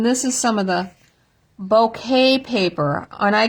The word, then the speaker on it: bokeh: I asked for the bokeh paper because that's the way I had always heard that that was pronounced. And they said, no, it's pronounced bouquet.